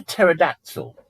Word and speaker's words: pterodactyl: It was a pterodactyl. Wasn't that noisy all the time? No, you could never actually hear him, even when he was using the bathroom. Why not? Because the P is silent.